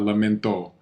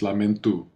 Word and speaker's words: lamento: It's not lamento. It's lamento. Lamento. Yeah. This always on this O on the end, and also like u senor, a senora, like u. The O is pronounced u.